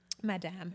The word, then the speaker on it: Madame: So with Upscale Madame, do you say Madame or do you say Madam? Because I have on my family, like, people speak Creole. I'm like, how do you say it? Okay, Madame, okay.